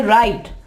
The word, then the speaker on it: write: यहाँ पे E को नहीं पढ़ा जा रहा, राइट नहीं कहेंगे, राइट E नहीं कहेंगे, यहाँ पे हम कहेंगे राइट।